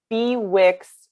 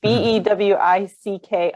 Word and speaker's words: Bewick: She said Bewick as in two words or Buick. So it's Bewick's wren. So it's somebody's name. It's Bewick apostrophe S. Right. Yeah, so it is Bewick.